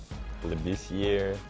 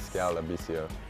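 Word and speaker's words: Skal Labissière: I'm not sure, but I've heard Lebisier. I don't know how they mess it up, but the correct pronunciation is Skal Lebisier. Skal Lebisier.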